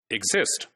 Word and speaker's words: exist: And then there is one more word, exist. Exist. So in this word, the first syllable is not stressed. It's the second syllable which is stressed, you see.